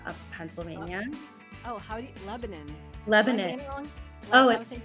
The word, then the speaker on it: Lebanon: Pennsylvania oh howdy Lebanon Lebanon oh yeah I think it's Lebanon I think that's how we say it in PA I could be wrong